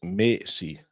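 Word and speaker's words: Maisie: Because an AE will be an A in Danish, so it's Macy.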